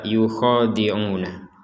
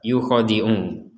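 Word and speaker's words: يخادعون: ketukan atau dua harakat maka prinsip membaca dua harakat ini tidak boleh lebih atau kurang kalau berkurang menjadi satu harakat yukiu itu satu harakat kemudian kalau dibaca Dua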